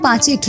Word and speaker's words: পাঁচেত: ইংরেজরা একে উচ্চারণ করত পাঁচেট রাজ্য।